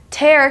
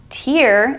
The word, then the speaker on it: tear: piece of paper tear hair can also be pronounced tear and means something different even though it has the same spelling tears are what come out of your eyes when you're sad or when you're hurt tear versus tear next we have wind